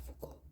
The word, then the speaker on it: Foucault: Entonces yo sé que se pronuncia Foucault, pero cuando lo voy a escribir hago mucho énfasis en cada letra.